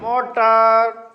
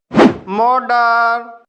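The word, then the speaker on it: motor: इसे राउटर पढ़ा जाएगा मोटर मोडर डरी मैट तो गाइस अब आप समझ गए होंगे कि जब दो वाउल के बीच में टी या डबल टी हो तब टी का उच्चारण ड होता है तो गाइस इस वीडियो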